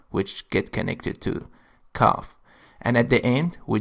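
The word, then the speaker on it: كاف: The letter kaaf is pronounced like K in the word likewise. So, ka, like this.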